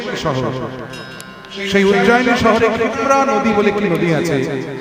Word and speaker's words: ক্ষিপ্রা: যাই হোক, সেই উজ্জয়িনীতে ক্ষিপ্রা নদীর তীরে, ওটা চলতি ভাষায় অনেকে ওই নদীটাকে শিপ্রা বলে, কিন্তু উচ্চারণ করে ক্ষিপ্রা।